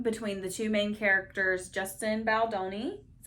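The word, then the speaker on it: Justin Baldoni: some offscreen feuding between the two main characters Justin baloni is how you pronounce who also directed it also directed it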